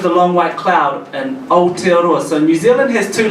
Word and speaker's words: Aotearoa: And this pronunciation of Māori is very similar to Japanese. So it's Aotearoa, so it's similar to the pronunciation, yeah.